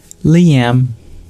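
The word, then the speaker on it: Lyam: y's like my grandmother's named Eileen and it's spelled with an l and a y which is also unique but Liam comes from my father's side because my grandfather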